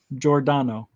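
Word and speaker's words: Giordano: wrong no no no it's uh it's like jordan jordano because like this is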